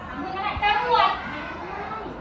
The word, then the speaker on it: จรวด: เอ๊ะ ว่า อะไร นะ จรวด จรวด ไม่ ได้ นะ คะ จรวด ไม่ ได้ เพราะ ว่า มัน ออก เสียง ว่า ไง มัน ออก เสียง ว่า รวด นะ คะ นี่ เป็น รวด